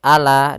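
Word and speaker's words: عَلَى: Kemudian ala, ain, jelaskan jangan sampai ala dengan hamzah, tapi dengan ain.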